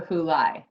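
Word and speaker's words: Puʻuhōlai: is is when you're you pronounce every vowel except a I and then that then it's a crapshoot it's usually I that's the way you pronounce that's a lot o Y and if you just do that you get you can get relatively close and it's sort of you know acceptable alright we are in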